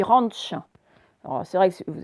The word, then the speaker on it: ranch: Le propriétaire du ranch, alors on ne dit pas ranch, on dit ranch. Alors, c'est vrai que vous avez peut-être lu ranch et c'est normal, mais à l'américaine, ça va se dire le ranch.